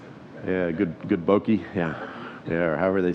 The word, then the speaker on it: bokeh: So people talk about good bokeh, is that how you pronounce it? Yeah, good bokeh.